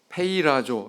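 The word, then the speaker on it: πειράζω: 이 원문에 보면 시험이라고 하는 단어가 페이라조 이렇게 발음하는데요.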